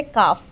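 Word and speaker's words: calf: This is सेडी है, swing है, बॉक्स है, काफ। यहाँ पे एल वर्ड साइलेंट है, इसलिए इसका आंसर होगा काफ।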